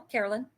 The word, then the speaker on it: Carolyne: am I saying your name wrong? No, Carolyn, you're And right.